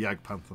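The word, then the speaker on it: Jagdpanther: panther we had yag pant we'll go with jag panther that's how you pronounce it um won those and it's got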